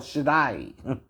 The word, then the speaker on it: Shaddai: Or Da'i. Kind of how you say it. Shaddai. It's not, it reads day, we would say day, right? That's not quite right.